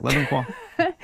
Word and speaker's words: Le Bon Coin: Le Bon Coin.